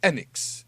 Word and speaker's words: Enix: promos in Japan, they refer to it as Enix. Enix. That's how they say it. So it's Enix.